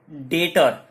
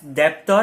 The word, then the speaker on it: debtor: यहाँ पे ध्यान देने वाली बात है, मैं प्रोनाउंस कर रहा हूं डेटर, इट इज not called as डेप्टर। आपने बहुत जगह सुना रहेगा, इसको लोग डेप्टर बोलते हैं। इट इज not called as डेप्टर, इट is called as डेटर। यहाँ पे ये जो बी है वो साइलेंट है।